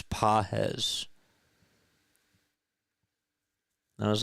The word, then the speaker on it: Pages: They were like, you've said it wrong like 12 times. It's Pajes.